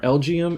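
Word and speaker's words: Elgyem: And before we start, pronunciations for today are Elgium and Beheeyem.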